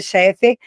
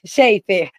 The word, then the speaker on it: Sheifer: Cheffer Chifer, sempre pronunciei seu nome errado. é Sheifer.